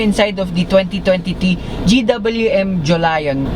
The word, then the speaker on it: Jolion: of the 2020t gwm Julion it's not Julia it's not like you